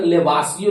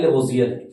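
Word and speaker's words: Lavoisier: हिंदी में देखिएगा तो लेवासियो लिखता है, लेकिन अंग्रेजी प्रोनाउंसिएशन जो इसका है लेबोजियर है ना।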